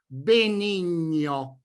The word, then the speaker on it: benigno: In Italian this consonant pair must always be pronounced "gne" - BENIGNO In a way, the English pronunciation BENIGN is already a good starting point for the Italian pronunciation you ought to attempt. My advice is the following: try to make the N sound more palatal and nasal in color.